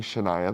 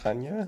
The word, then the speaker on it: Chania: I feel like the most unexpected part was Chania, which we were calling Shania the whole time. Shania, Greece, and it turns Do out... we still know that it's pronounced Hanya?